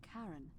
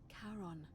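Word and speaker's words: Charon: it's just as you described it only your pronunciation is a little off the number you heard wasn't karen it was c h a r o n as in caron the ferryman of the dead you're my who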